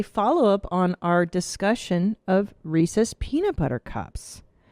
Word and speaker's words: Reese's: Well, I still stand by my pronunciation. It's Reesei Cups, but it's Reese's.